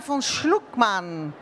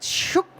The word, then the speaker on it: Schuckmann: her name is Karina vonlukman. Did I say it right? Shookman, man.